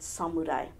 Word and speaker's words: samurai: of you please help to spread the correct pronunciation of the word samurai samurai is derived from a Japanese word which